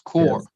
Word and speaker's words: corps: started in cobbler Manchester it's spelled c-o-r-p-s but pronounces core Peace Corps and what